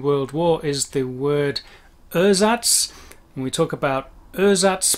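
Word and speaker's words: Ersatz: the german for replacement erzatz the pronunciation got lost along the way difference it's that very clear german e that is the same in every situation it's an a a sound nice big open mouth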